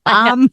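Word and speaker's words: balm: there on their bottom bomb bomb bomb b a l m not a hard word bomb I was trying to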